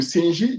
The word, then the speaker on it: Senj: Donc, ces peuples-là, les S, donc le Senji, ça s'écrit S-E-N-J. On prononce Senji. En fait, Senji.